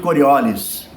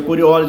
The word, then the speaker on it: Coriolis: chamado efeito corioli efeito coriolis que por ele ser francês é corioli que pronuncia mas o pessoal pronuncia coriolis Então as duas tá valendo porque aqui é brasils